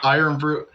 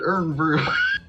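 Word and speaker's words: Irn-Bru: Iron Brew. I thought people called it Earn Brew. It's kind of spelled like that, though.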